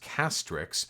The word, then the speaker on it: Castrix: Hey Vosh, about time I ditched the white name again, which is pronounced Castrix.